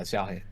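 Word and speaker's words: Xiaohei: Yeah, Zhaohai.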